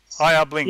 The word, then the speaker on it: IR Blinks: IR Blinks. Yeah. He actually corrected the pronunciation of his handle recently. How is it then? Yeah, IR Blinks.